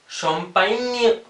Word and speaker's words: champagne: शैम्पेन, ल शैम्पाइन्य, ल शैम्पाइन्य। देखिए यहाँ पे जो है पाइन्य, ये नेजल साउंड है ना, शैम्पाइन्य।